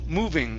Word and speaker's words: moving: all around okay yes so it's ooh moo instead of Mo moo moving it's moving all around